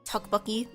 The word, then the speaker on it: tteokbokki: No, it's more like so you know like tteokbokki, like the rice cake dish. So tteokbokki is actually spelled with like 2 T's at the beginning when it's romanized.